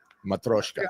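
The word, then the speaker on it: Matryoshka: Matroshka.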